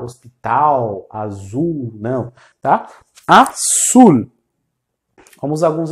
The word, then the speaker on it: azul: Assul, como a palavra hospital, nunca com som de u, como a gente faz em português no final. Hospital azul, não tá?